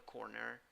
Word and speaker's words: corner: In the first syllable, you have an O sound, and in the second syllable, even though you write the word with E, the pronunciation is with schwa.